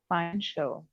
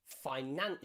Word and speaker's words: financial: C followed by many vowels is pronounced as a sh sound. Sh sound. Let's Special. practice those words again. Special. Special. Financial. Financial.